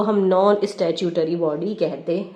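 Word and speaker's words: statutory: हमारा नॉन स्टैट्यूटरी body, non स्टैट्यूटरी, स्टैट्यूटरी का pronunciation पे ध्यान दो, स्टैट्यूटरी, स्टैट्यूटरी, स्टैट्यूटरी।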